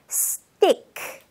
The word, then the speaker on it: stick: 그냥 우리가 편하게 발음하려면 stick, stick 이렇게 말할 수 있을 거예요. 하지만 제대로 된 발음을 연습해 보고 싶다면 stick, stick 하면서 TI 부분에서 쌍디귿으로 stick 하고 처리하도록 하세요. 두 번 해볼게요. stick 한 번 더요. stick 아시겠죠? 그냥 티귿으로 stick 하지 않길 바랍니다.